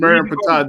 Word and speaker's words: Merenptah: It was in the Nefertah stele, which is spelled MERN. Read it. Now The read Merenptah.